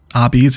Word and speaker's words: Arby's: red kind of brick crosswalk here that's nice our bees is how it's pronounced okay wonderful thank you guys thank you